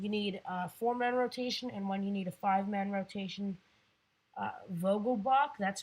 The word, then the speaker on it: Vogelbach: Vogelbach, that's how it's pronounced.